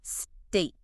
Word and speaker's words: steak: It's just one syllable, and that E sound is like I as in day, so it's steak.